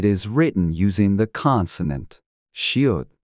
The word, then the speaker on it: 시옷: To pronounce this sound, place the tip of your tongue behind your upper teeth and push air out through your mouth, making a sound similar to S.